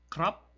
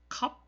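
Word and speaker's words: ครับ: 디 스 크 그인 살 때 싸와 띠 크랍 이렇게 해야지 정석적인 이고 싸 월 디 캅 이라고도 하여 듣기도 하고 좀 빨리 발음하면 거든요 써리 합 소리 하 요렇게 발음을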